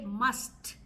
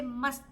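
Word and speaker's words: मस्त: Hindi must must must it's like it's the English must only thing is that you don't you don't use the hard T you don't say must you say must you know the so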